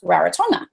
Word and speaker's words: Rarotonga: I'm in the Cook Islands, just like when you cook food, and I'm on an island called Rarotonga, which is actually pronounced Rarotonga.